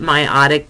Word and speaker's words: meiotic: So before the first meiotic division, or meiotic, I'm sorry, no, I was right, meiotic division, that's how you pronounce it.